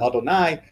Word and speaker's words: Adonai: the word lawyer because we pronounce it as the word Adonai which is a form